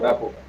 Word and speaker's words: rapport: Is it Rapo or Rapo? Rapo. Rapo. The pronunciation is Rapo.